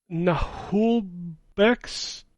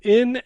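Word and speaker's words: Naheulbeuk: We've got Lifeless Moon, Nahulbeck's Dungeon Master. I can't say that word. Nahulbeck's Dungeon Master. Okay. Dude, it's Nahulbeuk.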